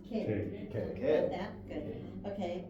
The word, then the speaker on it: que: Okay, so one clue here, the last word on page 3, Q-U-E, pronounced K.